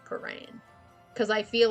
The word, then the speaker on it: Prahran: I also hate saying the name Paran. Because I feel like I'm saying it wrong even though I'm not. I'm saying it correctly. It is Paran. But it's like Prahran.